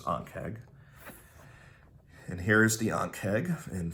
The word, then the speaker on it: Ankheg: So a lot of people pronounce it Ankheg, but it's Ankheg.